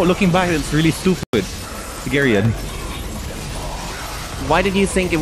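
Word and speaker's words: Geryon: through the other videos our pronunciation of garyun was terrible guy and we kept saying gear on camera yes I said Guerra yes and I went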